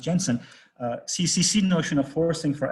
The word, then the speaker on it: Jensen: he basically used en sense Jensen's this is pronounced Jensen CCC notion of forcing for adding apply one